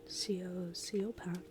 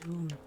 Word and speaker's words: Siobhan: Well, we've got this one, Sioban. Siobhan, it's pronounced Siobhan.